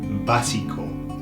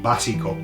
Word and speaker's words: básico: Basic, the word basic is básico. Okay, slightly different pronunciation, whereas we say basic, they say básico, but they're going to put an O on the end, okay, again.